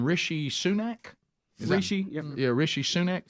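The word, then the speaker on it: Rishi Sunak: he is how do you say his name rishy sunak rishy yeah rishy sunak sounds uh UK prime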